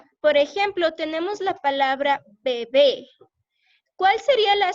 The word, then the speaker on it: bebé: Por ejemplo, tenemos la palabra bebé. ¿Cuál sería la sílaba tónica en bebé?